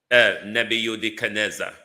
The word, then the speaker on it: Nebuchadnezzar: The statue of Nebuchadnezzar or call it like how the Africans pronounce it. Nebuza, your statue is falling apart and wholeness.